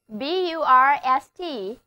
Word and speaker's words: burst: ，就是 burst， B-U-R-S-T，字母组合 U-R 发 A 的长音，单词就读作 burst，是 explode 的近义词。